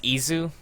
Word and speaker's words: Ys: sure it's ease I'm not sure if it's wise or E I'm pretty sure it's e though it's spelled y s and it Wikipedia says ISU uh I'm pretty sure that's just like Japanese pronunciation and that's hard to say so I'm just going to say ease because it's easy ha